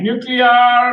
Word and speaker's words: nuclear: guys okay real quick say nuclear no half you did it wrong say nuclear by golly you're still not getting a nuclear it's one of my